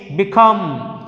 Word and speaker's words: become: Next one is become, B అనేటువంటిది ఉంది కాబట్టి our stress is on the third letter, that is come. Come అంటే that is a second syllable. Become 1 and 2 అనేటువంటి become.